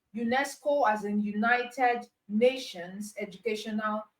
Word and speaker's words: UNESCO: But in the case of acronym, you are pronouncing as a word, not as individual letters.